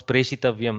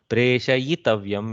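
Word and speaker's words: प्रेषयितव्यम्: See, we almost are forced to pronounce preshitavyam. No, preshayitavyam is the form. So some of them are a little twisty, but it's okay if we make mistakes because we seem to think preshitavyam sounds correct.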